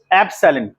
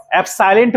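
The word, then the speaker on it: epsilon: एप्सिलॉन एप्साइलेंट मत कर दीजिएगा, एप्साइलेंट, एप्सिलेंट। ठीक है, बोल के देखिए।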